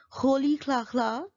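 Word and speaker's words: Rolihlahla: So this is right pronunciation of his name, Nelson Holy Kla Kla Mandela.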